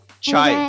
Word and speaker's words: cha: Chai is a Hindi pronunciation of that.